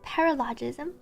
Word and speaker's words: paralogism: Paralogism. I think we should play HSR. How do you? Paralogism. Oh, Paralogism. I didn't even get close. It's not the second. It's paralogism. It's like paralysis, but paralogism.